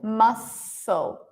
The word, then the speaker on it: muscle: Or muscle, muscle. Anything with SCL is still just pronounced as an S.